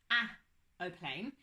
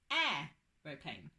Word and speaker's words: aeroplane: Okay, so the word begins with the letter ah when we spell it, but it's not a-oplane, it's aeroplane.